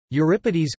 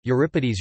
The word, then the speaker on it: Euripides: Euripides, Greek, Euripides, Euripides, pronounced EU, RE, PI, DS, C, 480 C, 406 BC, was a tragedian of classical Athens.